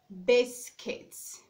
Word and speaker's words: biscuits: We also have this word, which is called biscuits. Biscuits. In that word, we have the stress being placed on the first syllable, not the second syllable.